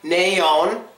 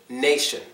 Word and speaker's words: nation: it never counts so this one is not pronounced naon it's Nation it's Nation it does not